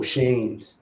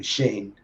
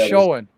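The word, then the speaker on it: Schoen: and yes stream so uh that was joe shane's that's how you pronounce his name shane uh i thought it was showing that's how it spelled but it's pronounced shane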